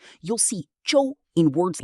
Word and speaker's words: 洲: Today, we learn the Chinese characters Zhou Zhou. Both characters are pronounced Zhou, but they have different meanings and are used in different types of words.